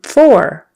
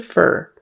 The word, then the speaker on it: for: we sat down um four four um these are for them now so for you would say it properly four four that is for them and fast conversation it sometimes turns into fur um these are for